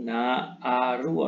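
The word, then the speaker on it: nāru: Ini asalnya naharu ya. Kalau ada tanda a menjadi dua seperti ini, naaru artinya ada huruf H yang tidak lagi diucapkan gitu ya.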